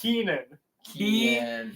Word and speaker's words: Keenan: say his name Keen no it's Keenan it's an N not an L bro no [ __